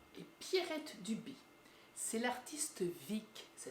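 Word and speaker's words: Vigg: C'est l'artiste Vic, ça s'écrit V-I-G-G, qui a réalisé les illustrations, dont celle de la couverture.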